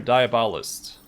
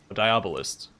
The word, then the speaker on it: Diabolist: A file under Diabolist. Diabolist. Had the emphasis on the wrong... what's the word? I'm drawing a blank. Syllables.